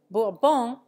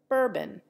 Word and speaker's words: Bourbon: have difficulty recognizing them thus Borbon has become bourbon the fan is dolphin